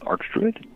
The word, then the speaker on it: Arch Druid: title Arch Druid yes so you say art Arch Arch Arch Arch Druid well at least that's the American pronunciation I have no idea what it is elsewhere in the world but um Everybody I've ever heard say it in in America has said AR and so yes that's